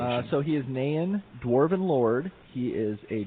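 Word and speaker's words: Náin: pronounce this guy exactly it's uh naen he is a dwarf and this is in a with the accent egg you above it and i and uh that that would be of glowing and owen and man type of dwarven pronunciation uh so he is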